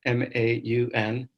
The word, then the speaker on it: Maun: So I live in Maun, Botswana, M-A-U-N. It's actually pronounced Maun by the locals.